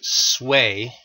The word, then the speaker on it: Sui: chinese civilization uh again the the name is pronounced sway the sway reunified the chinese empire after more than a century of north south disunion and civil wars to accomplish their goals the sway dynasty enacted a series of high taxes and